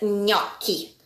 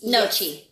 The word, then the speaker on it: gnocchi: Gnocchi? Oh. Okay, let's do it again. It's a gnocchi. Gnocchi. Yes. Nochi. Nope. Gnocchi. Go, gnocchi, gno. Gnocchi. Yes. GN is a ny sound. Yes. Like onion.